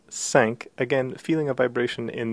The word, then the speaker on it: cinq: cinq, The number cinq is yet another nasal vowel, so a little bit different from un. It's a slightly higher nasal vowel, un, and so we pronounce cinq, again feeling a vibration